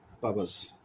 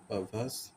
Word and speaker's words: perverse: এরপর আমরা যে ওয়ার্ডটা দেখবো সেটা হচ্ছে পাবাস, PERVEERS। এখানে আরের উচ্চারণটা হবে না, সেটা হচ্ছে পাভাস।